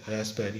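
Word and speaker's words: raspberry: तो यहाँ भी कोई ज़रूरत नहीं है, रास्पबेरी, इसमें पी साइलेंट होता है, रास्पबेरी जैम, रास्पबेरी कहते हैं, रास्पबेरी जैम।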